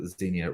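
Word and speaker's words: Xenia: Romanov Grand Duchess called Grand duess kazna you can also pronounce it Zenia Romanov who was Nicholas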